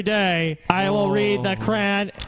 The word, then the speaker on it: Quran: I will read the Quran. Is that how you say it?